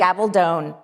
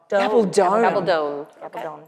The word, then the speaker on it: Gabaldon: and say, I actually now know how to pronounce Diana's last name. Oh, I feel I'm about to be corrected. Gabaldon. Gabaldon. Gabaldon.